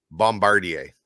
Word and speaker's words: Bombardier: loud my way um how do you saying Bombardier Bombardier there you go that sounds right I've always called them bombardiers and that's what everyone